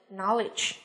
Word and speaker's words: knowledge: Và kiến thức, tri thức chúng ta có danh từ knowledge.